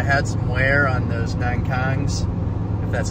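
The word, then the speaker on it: Nokian: just because I had some wear on those nine Kongs that's how you say it and just make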